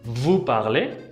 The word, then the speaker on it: vous parlez: Vous parlez. Vous parlez. Tampoco no se pronuncia la S.